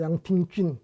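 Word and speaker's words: 杨廷筠: 하나는 우리말로 해서 서광계, 그 다음에 또 한 사람은 이지조, 그 다음에 또 한 사람은 양정균, 이 중국말로는 쉬광치, 그 다음에 리쩌자오, 그 다음에 양팅쥔 이렇게 발음이 되는데 이 세 사람하고 사귀는 계기가 되었습니다.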